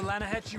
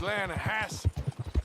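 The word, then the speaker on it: Lannahechee: runs right near here yeah this pronounced Lana Hass why is everything in English said differently than it's written make us feel stupid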